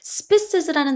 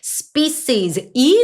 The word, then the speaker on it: species: SPES라는 단어가 있어요. 발음하실 때 spes 폐 소리가 나는게 아니고 species이 소리가 난다라는 거 species 과학자들은 discovered new plant species recently 최근에 새로운 식물종을 발견했다.